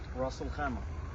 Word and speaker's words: Ras Al Khaimah: Ras Al Khaimah.